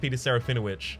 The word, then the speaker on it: Peter Serafinowicz: Peter surrender which and yes it is actually pronounced Peter Serafinowicz I've heard him correct other people Yudhisthira was